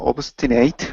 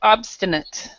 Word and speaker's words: obstinate: words right here uh obate St uh head strong okay now this word right here is more of an a sound this sound right here so we'd say obstinate obstinate obate stubborn obate